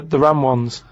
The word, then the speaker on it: Ramones: Yeah, the ram ones, right?